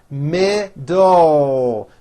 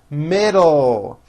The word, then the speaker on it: middle: It has 2 syllables, and bring your tongue up quickly for that final L. Middle. Middle.